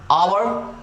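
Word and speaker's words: hour: So next rule number is योर 3, so English words में ओ से पहले एच आने पर एच हो जाता है साइलेंट, सो ऑनेस्ट, ओ से पहले एच आ रहा है, दैट्स व्हाई सभी में ओ से पहले एच आ रहा है, ओ से पहले एच आ रहा है, दैट्स व्हाई क्या हो जाएगा, एच हो जाएगा साइलेंट, तो आप इसको पढ़ते हैं ऑनेस्ट, आवर, ऑनर, राइट।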